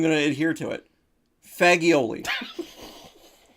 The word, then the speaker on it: fagioli: Fagioli. Fagioli is what it's called, because that's how it's spelled.